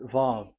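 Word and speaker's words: ו: So it's V as in Vogue. So it's really V. How to read Vogue? So the word, the shape Vav is really pronounced V, like Vogue. That is it, pronunciation. So here in this side, it's pronunciation. This is pronunciation. So according to the old Hebrew word today, those who, the owner of the words, I mean, so it's a V. So don't change it into W.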